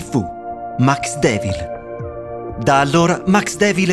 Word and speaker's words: Maxdevil: alla creatura al telefono Max mi suggerì Max Dev ville pronunciato alla francese non mi soddisfaceva la pronuncia lo lasciava sospeso a mezz'aria troppo evanescente Max Devil all'inglese A me sembrava molto